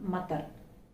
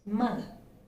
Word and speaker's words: mother: It's not mother, it's mother. See the buzzing sound, mother. Again, the same with father.